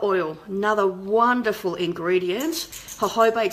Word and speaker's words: jojoba: to tissues so epidermal growth factors are fantastic jojoba oil another wonderful ingredients her Hobart spelled joj OVA please pronounce mahoma and known sometimes as liquid gold